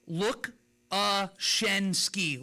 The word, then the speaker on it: Lukaczynski: Lukaczynski. Lukaczynski. Shen, like S-H-E-N, exactly. We're going to fix that.